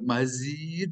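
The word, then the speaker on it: مزيد: Mazid itu pakai zai ke depan.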